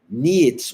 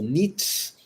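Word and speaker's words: Nietzsche: Tanto que o filósofo niets ou Nits, já ouvi as duas pronúncias, dizia: "Torne-se quem tu és."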